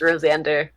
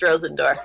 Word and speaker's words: Rosendor: I gotta tell you, originally Rosendor was gonna be pronounced Rosander, but then I was like, I'm not gonna say. I don't know you guys, so I'm not gonna say anything about it. And then it just was Rosendor.